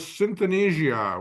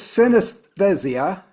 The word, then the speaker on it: synesthesia: I think it's synesthesia is how it's pronounced, and it's a it